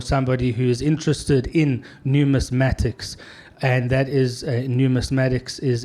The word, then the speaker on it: numismatics: you said it right let's just try this numismatics numismatics it's a tough one uh a new mass mattist is the um the collector or the professional or somebody who is interested in numismatics and that is numismatics is any type of